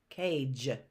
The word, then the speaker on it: cage: Cage. That sounds like a J, but that's where we have a soft G.